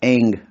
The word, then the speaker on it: ऐं: से सुन लेना ओम उसके बाद एंग एम नहीं लगाना है एंग फिर लगाना है हरीम हरी हरिंग नहीं